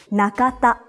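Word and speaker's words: 中田: Another common surname in Japanese is Nakata. Na-ka-ta. The pronunciation of these 3 kana are the same as in Tanaka, just the order has changed.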